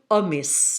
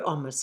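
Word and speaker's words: Omiš: along the coast to Omis. Now, I know the S isn't pronounced like that, but that's how I'm pronouncing it.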